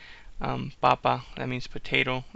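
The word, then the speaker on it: papá: if you say um Papa that means potato if you say papa with an accent on the last a that means father um I used this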